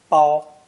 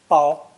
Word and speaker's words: 包: This character is pronounced first tone, bao, bao, and means to contain